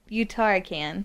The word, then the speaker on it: Uttarakhand: So this is the, I can't pronounce the first word. Is it Uttarakhand? Yeah, Uttarakhand.